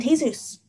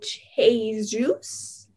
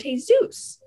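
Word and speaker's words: Jesús: it it's manolo and jesus manolo and cheese juice you don't pronounce the j where's the j and manolo and t zeus stop worrying will you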